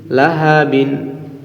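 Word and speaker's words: لهب: বা দুই জের বিন লাহাবিন লাহাবিন কিন্তু অক্ষরের সময় আমরা লাহাবিন বলবো না বলব লাহাব লাহাব দ্বিতীয় আয়াতে যেমন কাসাব বলছি তৃতীয় আয়াতে আমরা এরকম একই বলব লাহাব কাসালাহাব একই একই পর্যায়ে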